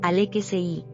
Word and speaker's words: Alexis: En francés, en Francia, el nombre Alexis se escribe exactamente igual, pero suena con la musicalidad característica del idioma, Alexei.